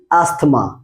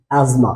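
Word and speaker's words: asthma: অফ the time বলি অ্যাস্থমা কি বলি আমরা অ্যাস্থমা এটাও কিন্তু একটা ফুসফুসের রোগ সো এই শব্দটার সঠিক উচ্চারণ হবে কি এজমা কি হবে ইটস নট অ্যাস্থমা এটা হবে এজমা N number four C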